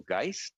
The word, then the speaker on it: Geist: Well, I believe you're quoting Professor Michael Geist is the proper pronunciation, and I will defer to my colleague, Minister Guilbeault, to answer that question.